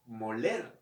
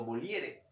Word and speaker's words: Molière: precisamente un comediógrafo francés, Molière o Molière, ¿ok? O Molière, algunos lo pronuncian así.